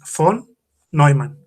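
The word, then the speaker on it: von Neumann: humanas así común muy raro no tras la pronunciación correcta de su nombre es font no hay man de la arquitectura natural que son las computadoras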